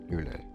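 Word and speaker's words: Lune: Now, next character we have is Lon. Lun. I believe Lun is how it's pronounced.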